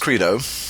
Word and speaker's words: Credo: All right, Credo is pronounced Credo.